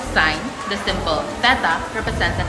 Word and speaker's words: sin: Let's start with sign written as sin theta. Pronounced sign.